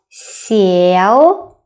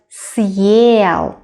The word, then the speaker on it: съел: previous consonant sound harder, like not сел, but съел. Can you hear the difference? Сел, the first s sounds a bit softer. But if you put a hard sign, it has to stay hard.